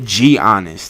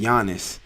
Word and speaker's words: Giannis: Anyway, stop calling that man Giannis. That shit's annoying, by the way. Don't pronounce the G all extra hard.